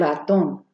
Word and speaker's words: ratón: Do you guys see how there's like a little accent above the O there? That's bringing up that word, that letter in when you're pronouncing it. So not el ratón, but el ratón.